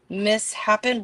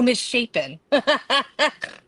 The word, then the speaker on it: misshapen: The knife mishappened wire coat hanger. Why did he say it like that? Oh, misshapen.